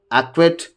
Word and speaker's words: acquit: The rule one here is the letter C is usually not pronounced in the combination of S and C. Here, if you just look at scissors, ascent, fascinate, muzzle, in all these, C is silent.